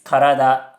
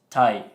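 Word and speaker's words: 体: It's not It's karada, not tai.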